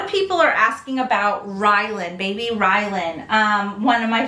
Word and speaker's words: Rylan: Is it Ryland or Rylan? It ends with an N. Almost like Ryan, but Rylan with an L.